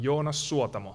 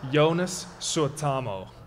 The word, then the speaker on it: Joonas Suotamo: I don't know how to pronounce it. Joonas Suotamo. Okay, I'll try to remember that. But for Americans, it's Joonas Suotamo.